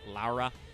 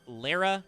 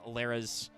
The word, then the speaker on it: Lara: This is Ritual Beast Tamer Laura, or probably supposed to be pronounced Lara because she's rara. I'm just gonna call her Laura.